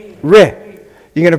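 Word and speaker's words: ר: You pronounce the resh, ri.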